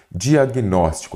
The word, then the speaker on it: diagnóstico: Diagnóstico, aí você já vem separando aqui, não é isso? Diagnóstico. Então, você observa que a sílaba tônica é a antepenúltima. Então, aqui eu tenho uma palavra proparoxítona.